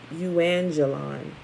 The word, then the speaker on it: euangelion: Evangelical is Greek from euangelon. I think I pronounced that right. Maybe. I could have screwed it up. It's EUANGELION. Euangelon. Meaning message or report.